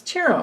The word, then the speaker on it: Ciro: It's Ciro Marchetti. I always say his name wrong.